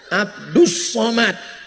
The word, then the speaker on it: Abdul Somad: kalau ini Abdus Somad tulisannya Abdul Somad tapi cara bacanya Abdus Somad jadi tulisan itu enggak